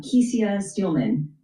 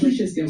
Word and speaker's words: Kesia Steelman: And talk to us about the president and the CEO, uh Kesia Steelman. Am I pronouncing your name correct? Kisha Steman. Kisha Steelman. Okay.